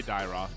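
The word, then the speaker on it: Dyrroth: So Tiroth perhaps? Now I'm gonna be surprised if that is how do you pronounce that actually? Dyroth? I say Dyroth.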